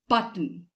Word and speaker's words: button: not any other pronunciation the sound of o in this word disappears it vanishes it is button button breathe it's not